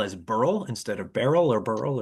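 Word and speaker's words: Beryl: Maybe I missed this, but a few books ago, I had a custom pronunciation from the author to pronounce B E R Y L Burl as Burl.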